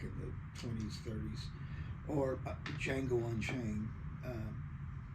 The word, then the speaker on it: Django: Kind of like Django Reinhardt. He was a guitar player, jazz guitarist way back in the 20s, 30s. Or Django Unchained, where the D is silent, then there's a J.